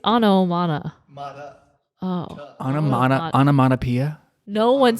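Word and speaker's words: ὄνομα: The Greek words onomana. Onoma. and I think poiein. the T is silent. No, I said onoma, meaning. Not onomana.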